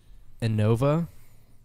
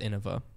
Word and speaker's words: Innova: man I think that it's Anova hey if you're listening to this and you're new there's no shame in it but it's pronounced Innova there's no I'm not